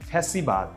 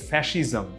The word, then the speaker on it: ফ্যাসিজম: ethics থেকে এসেছে নীতিবিদ্যা এটাকে আমরা অনেকেই ভুলে বলে থাকি ফ্যাসিবাদ এটা হচ্ছে এটার উচ্চারণটা আসলে ফ্যাসিজম ফ্যাসিবাদ ফ্যাসিজম মানে হচ্ছে